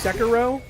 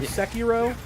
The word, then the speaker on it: Sekiro: Also, it's Sekiro or Sekiro.